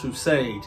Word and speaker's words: Rustage: Yes, as always, it's pronounced Rustage.